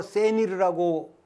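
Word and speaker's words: שְׂנִיר: 이 스닐은 히브리어로 세닐이라고 발음하는데 헤르몬산의 다른 이름이기도 합니다.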